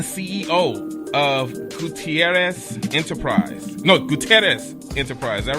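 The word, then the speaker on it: Gutiérrez: No, Gutierrez Enterprise. Is that right? You got it. Yeah. Yes, roll your R's. Yeah, it is 2 R's.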